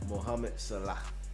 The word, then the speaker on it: Mohamed Salah: Mohamed Salah.